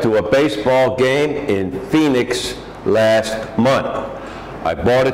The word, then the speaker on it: Phoenix: baseball game in Phoenix this is how it's spelled but Phoenix Phoenix Phoenix last month I bought